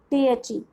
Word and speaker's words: the: Now come back to our topic, that is द pronunciation of THE. THE की pronunciation the, which is also called short sound of THE.